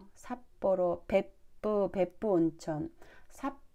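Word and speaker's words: 別府: ' 베부 ' 보다 는 ' 벳푸 ' 에 더 가깝게 들리지만 , 한국어로는 '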